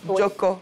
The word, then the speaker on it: Djocko: Alors, Madame Paul-Émile Biffy Djoko, oui, c'est comme ça qu'on prononce.